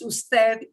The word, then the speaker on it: usted: that doesn't mean we pronounce it it's still pronounced instead just like you when you see mr period